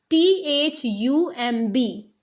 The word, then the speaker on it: thumb: THUMB. In this word, B is silent.